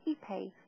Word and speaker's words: Ipe: So just last week, I met somebody called Ipe with the spelling, which I wasn't aware of, and it didn't resemble the pronunciation. And beautifully, his first comment to me was to say, Ipe, just like eBay.